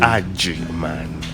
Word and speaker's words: Agyemang: Agyemang, A-G-E. G for Germany, Y-E-M-A-N, for Germany. Y-E-M-E-M-A-N. M-A-N-G. And so, yes. So And the pronunciation slowly. Agyemang.